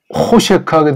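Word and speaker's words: חֹשֶׁךְ: 그리고 호셰크하게 되면 어둡다는 거죠. 하샤크에서 만들어진 명사죠. 하샤크. 이렇게 오자란 모음이랑 애자란 모음 됐으면 여기에 이제 힘을 주는 발음을 해서 호셰크 이렇게 보통 읽습니다.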